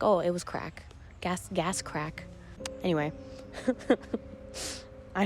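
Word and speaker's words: craic: thing i've learned is the word crack in ireland is spelled c-r-a-i-c and it basically means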